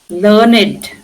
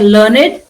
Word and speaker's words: learned: So you say dogged learned he was a learned professor. Now if you are writing in a different way I learned or I learned but he was a learned professor.